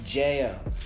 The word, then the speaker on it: Jeo: story yeah oh yeah it's Jo like J oh that's how it's pronounced anyway guys oh I'm